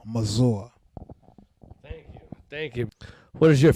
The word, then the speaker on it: Mazor: Mazor, that's Mazor. That's Mazor. It's a little French. It's not Mazor. It's not Razor. It's not Mayor. It's Mazor.